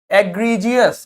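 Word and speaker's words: egregious: नहीं आ रहा था, यानी कि जी का प्रोनाउंसिएशन क्या है? जे। एग्रीजियस क्या हो जाएगा?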